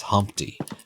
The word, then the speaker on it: Humpty: let me introduce myself my name is Humpty pronounced with a umpty uh yo ladies oh